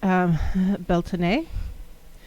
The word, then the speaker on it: Beltane: the southern hemisphere now I've also heard it pronounced Belton a so again there's some